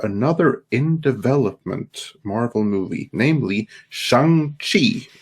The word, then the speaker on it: Shang-Chi: A few days ago, we got a director announcement for another in-development Marvel movie, namely Shang-Chi, or however it is pronounced. No, it's Shang-Chi, that's right.